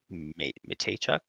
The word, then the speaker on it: Mateychuk: I have Denton Mateychuk. Mateychuk? Yep. Pronouncing that one correct, and let me make